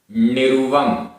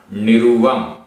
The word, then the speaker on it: निरुवम: निरुवम, निरुवम रा में छोटे उ की मात्रा, निरुवम।